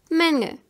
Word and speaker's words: Menge: Like you want to say the last letter G, but you don't. For example, Menge.